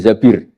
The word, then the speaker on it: Zabir: nikah sama Abdurrahman Bin Zabir di di hadis ini bukan bacanya bukan Zubair tapi Zabir Abdurrahman bin zbir tapi